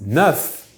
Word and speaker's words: neuf: The number 9 is neuf with an F. That F rarely will be pronounced like a V if followed by some words starting with a vowel.